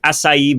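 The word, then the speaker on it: açaí: They're also in blue corn, concord grapes, acai berries, red cabbage, which is actually really purple when you look at it, right? Thanks for saying acai correctly.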